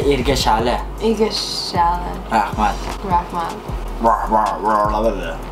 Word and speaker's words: rahmat: Rahmat. Rahmat. Rahmat. Say rahmat. Rahmat. Rahmat. No, rahmat. Rahmat. Rah. Rah. No, R. Rah. Rah. Mat. Mat.